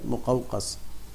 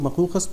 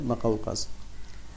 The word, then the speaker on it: مقوقس: میم پہ پیش ہے اور قاف پہ زبر ہے، مقوقس. اس کو کچھ لوگ مقوقس پڑھتے ہیں لیکن صحیح تلفظ اس کا ہے مقوقس.